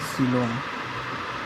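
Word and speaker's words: coelom: symmetry दूसरा चीज है सिलोम इसको सिलोम पढ़ते हैं ठीक है और सिलोंग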